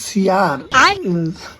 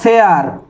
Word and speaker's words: শেয়ার: 4 লাখ সিয়ার সিয়ারের যে ভিডিওটা 4 লাখ। আরে কাকা, ওটা সিয়ার নয়, ওটা শেয়ার। ভালো করে উচ্চারণ করো কাকা।